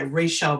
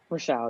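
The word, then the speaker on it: Rachelle: pie chart along with the beautiful illustrations by Rachel Baker. Is that how you pronounce her name? Is it Rachel? Rochelle, yeah.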